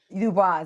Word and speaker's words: Dubois: Dubois, yes.